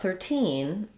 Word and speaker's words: thirteen: clear e vowel 30s but in 13 13 you can hear how i have a lot more length on that second syllable and if i'm saying the two 30 and 13 then i'm clearly stressing on 13 and i'll use that